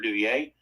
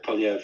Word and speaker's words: Poilievre: Are you talking about Pierre Duvier? Yeah, Pierre Poilievre. Yeah, Poilievre. I get his name wrong.